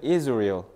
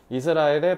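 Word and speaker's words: Israel: mother 엄마가 자 얘들 이거 이스라엘이라고 읽으면 안 돼 영어에서는 is real is real 이렇게 읽어요 알겠죠 이스라엘에 방문했을 때 태어났대요 his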